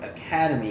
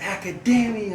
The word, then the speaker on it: Academia: dressed as it and I said My Hero Academy instead and they're like it's Academia and I'm like all right I get it.